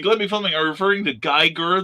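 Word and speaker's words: Giger: filming are referring to geiger the alien creator hard g's both of them that's i've heard it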